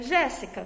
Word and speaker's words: Jéssica: Qual foi a sílaba mais forte? O que mais saiu da minha boca? Jéssica. Não foi o Gé? Então significa que o Gé vai ter o acento agudo.